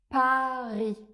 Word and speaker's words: Paris: Pour prononcer le son /a/ on va prononcer un /a/ bien ouvert, comme dans Paris. Paris. Et non pas Paris comme je l'entends parfois.